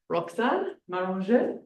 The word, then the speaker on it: Roxane Maranger: So I am going to introduce Roxane Maranger. How was that? Not bad. Well pronunciation.